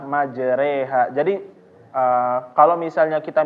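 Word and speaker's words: مجريها: Bismillahi majareha majareha nah fathah dimiringkan menjadi kasrah dan Alif dimiringkan menjadi Ya seperti e orang Timur ya ditulis orang timur di sini ya nah jadi bapakbapak membacanya adalah majreha jadi ee kalau misalnya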